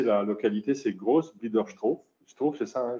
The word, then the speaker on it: Groß-Biederstroh: Alors je vais prononcer la localité, c'est Groß-Biederstroh. C'est ça, hein, Groß-Biederstroh.